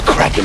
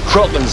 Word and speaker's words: kraken: And I don't think it's cracking anyways. Always heard it said cracking. Oh, with a long A? No. Crocken's how it's pronounced in the original Scandinavian.